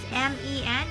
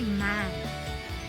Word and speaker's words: men: That's M-E-N. If you can see, M-E-N. It should be men. So usually they say man.